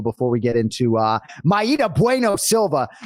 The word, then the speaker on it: Mayra: of Myra Bueno Silva they said Myra on the on the broadcast and uh you know so he's got me going into the Dropbox like the day after the fight to look at the uh listen to the pronunciation and uh you know she says Maita every day of the week I was like did